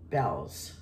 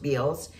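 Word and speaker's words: Bealls: think these are for bells let me see Bellows is a store in Florida it's a department store it's b-e-a-l-l-s and I thought it was pronounced Beals but it's pronounced Bells because I've called them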